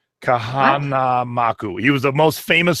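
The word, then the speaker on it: Kahanamoku: So if you do not know who Duke Kanamana, I can never say his name. Too many letters. Duke Kamanamaku. Oh, good Lord. Kahanamaku.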